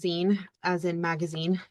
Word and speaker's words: zine: are using Alba D to showcase showcase student z. Yeah. So first of all I want to discuss what Azen is. Um and it is pronounced Zen as in magazine not Z.